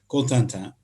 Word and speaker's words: Cotentin: At the end of this Cotentin Peninsula, I'll use the American pronunciation. In French, it's Cotentin.